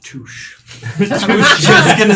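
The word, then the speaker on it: touché: It's pronounced touche.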